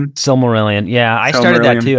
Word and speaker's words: Silmarillion: I wanted, I think, to get to the the I don't know how to pronounce it, the Silmarillion. Silmarillion.